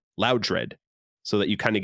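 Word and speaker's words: Loudred: to accept their uh their explanation of pronunciation with loud red because they're saying they got the name from loud high in volume and dread fear it would be much more like you would want to pronounce that than loud dread so that you kind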